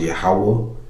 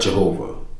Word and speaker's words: Yahawah: Lord all capital letters is pronounced Yahawah. Okay, that's the name of the heavenly father. Not Jehovah or Adoniah is Yahawah.